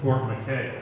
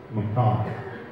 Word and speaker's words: Fort McKay: Fort Mai is famous it isn't Fort McKay it's spelled like my name but it's maai they are turning over